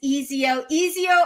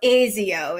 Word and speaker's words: Ezio: So Ezio is probably how you pronounce E-Z-I-O, and Enzo is always Enzo, you know.